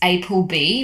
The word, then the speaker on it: APLB: Snail Mucin, first is Apple B, which is spelled APLB, Healing Moisture Snail Cream,